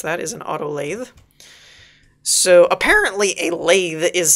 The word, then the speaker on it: lathe: Because that is how you actually pronounce that, is an auto lathe.